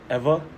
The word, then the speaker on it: Ewa: area called Ewa Beach it's spelled with a W though so it's called what Eva Eva with a W